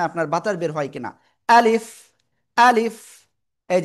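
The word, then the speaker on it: ألف: দেখেন প্রথমে আ শক্ত হল। এরপরে লিফ। শেষের দিকে নিচের ঠোটের পেট উপরে দুই দাতের আগার সাথে লাগাব। লাগিয়া হালকা বাতাস বের করব।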